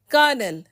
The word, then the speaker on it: colonel: Like the first set of words over here, both are pronounced as colonel, but the first one, colonel, is actually an